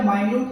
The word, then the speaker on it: minute: बेटा माइन्यूट का मतलब होता है बहुत कम। ठीक है बेटे, स्पेलिंग बेटा कौन सी होती है, मिनट वाली, बस माइन्यूट बोलते हैं उसको।